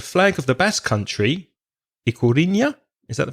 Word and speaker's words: Ikurriña: Did you know, Reza, that the flag of the Basque Country, Ikurriña, is that the pronunciation? Ikurriña?